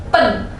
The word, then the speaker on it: ben: Untuk yang B, gue kasih kata pen dan pan. Nah, tulisannya itu B-E-N dan B-A-N ya. Teman-teman bisa baca yang kata ben ini jadi pen, dan kata yang bertuliskan B-A-N, ban, bisa dibacanya pan.